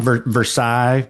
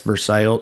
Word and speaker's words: Versailles: Like Versailles, but it's Versail.